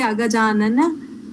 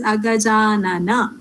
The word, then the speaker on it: agajanana: I know Hindi, people who speak Hindi might have problems when they are pronouncing. They might say agajanana, but it is in Sanskrita, it is agajanana.